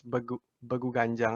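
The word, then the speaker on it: Begu Ganjang: It's Bagu Ganjang.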